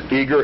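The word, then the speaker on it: Eagar: I'll repeat rep it a couple of times eager Arizona Eager is spelled e a g a r Arizona 85925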